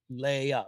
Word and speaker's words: Leah: but as we began our show, I said, "Leah, how do you say Leah?" Because some people may say Leah, and she said it's Leah.